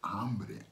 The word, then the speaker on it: hombre: so you go oh it's not hombre it's ambry ambi i don't know what ambry means and so you repeat you go hombre now you say it correctly right with the ah ambry you say and she